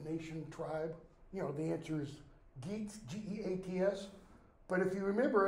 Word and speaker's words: Geats: I would pronounce that Yats, like YEATS. And one person put down Yeats or Yates, YEATS. I went ahead and accepted it because that is an acceptable pronunciation for Old English GEATS.